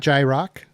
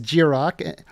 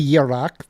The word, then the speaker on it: Jiroc: And it's not Jiroc. I know it does look like Jiroc, but it is Jiroc. You could say Jirok. That would be fine too if you want to do the Scandinavian pronunciation.